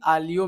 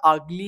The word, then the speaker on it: aglio: আমরা ট্রাই করবো আলি আলিও ম্যাগি তো আমি নিজেও ফাস্টে জানতাম যেটা আগলি আলিও ম্যাগি কিন্তু একটু রিসার্চ করলাম তারপর জানতে পারলাম এটা আলি আলিও বলে কি যায় আসে